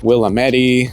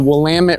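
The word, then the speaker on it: Willamette: of got to understand how to properly pronounce things here because people will look at you funny or laugh at you or just immediately know that you're not from here when you pronounce wamit incorrectly I know I've heard people say Willam Medi I've heard people say I don't even know it's the wamit river it goes right through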